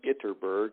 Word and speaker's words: Ytterberg: My name is Itterberg. It's spelled really funny. It's YTTERBERG.